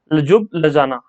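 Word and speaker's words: Ljubljana: ये स्पेलिंग थोड़ा सा अटपटा है, यहाँ पर देख लेना। लजुब लजाना, लजुब लजाना ये कैपिटल है स्लोवेनिया की।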